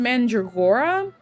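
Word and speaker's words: Mandragora: I say Mandra because and I'm sure it's pronounced Mandreora, but if anyone played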